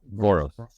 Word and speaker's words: Voros: guys, Binsky and Aaron Veros. Is that how you say his name? Voros. He didn't. Right? You actually were close enough.